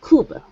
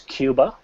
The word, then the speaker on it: Cuba: a small one cuba sometimes i hear cube cooper well it's not correct in english it is cuba okay um i don't know